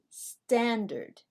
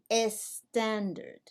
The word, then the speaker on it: standard: we say standard remember in english we do not use the letter a or e as a help to pronounce the letter s so we say standard not s standard what about this word